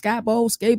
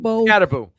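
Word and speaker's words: Skattebo: And think about it, like Arizona State has a really good running back room with, I always mispronounce his name, is it Scatabo? Scatterbo. Scatterbo, Cam Scatterbo, and then they also got McCaskill as well.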